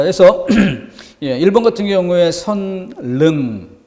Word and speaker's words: 선릉: 자, 그래서 1번 같은 경우에 선릉, 그런데 그 표준 발음이 설릉, 리을로 소리가 나야 되는 것이죠.